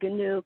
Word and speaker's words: Giniw: And then one group that is asking for people to come and support them is called the GNU Collective, and that is spelled GINIW.